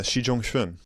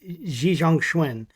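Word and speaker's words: Xi Zhongxun: Um so I can know how to pronounce it. Yeah. Xi Jang Schwin Xi Xi Jang Schwin like how did like how how did how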